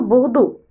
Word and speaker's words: Bordeaux: Le E avec le A, avec le U, avec le X, on le prononce O. Alors, Bordeaux.